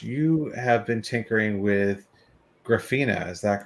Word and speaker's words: Grafana: of tinkering ash you have been tinkering with graffina is that correct grafana yes obama i i looked up a video